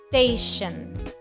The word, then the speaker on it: station: Station. Station. I did not say station. I did not say station. No. No pronuncies la E al principio, porque no hay una E en inglés. Es solamente ST.